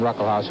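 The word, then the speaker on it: Ruckelshaus: the uh first s in his name is pronounced it's it's silent William ruckle house who's the majority leader he's just uh 35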